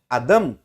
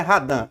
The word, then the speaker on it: Adam: Veja que Adão, olha, tá escrito aqui no original hebraico, radam, né? Adam, não é radã, Adam, né? O alif aqui ele tem, ele é mudo.